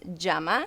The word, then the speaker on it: llama: what is that so llama in spanish is pronounced jama so that would be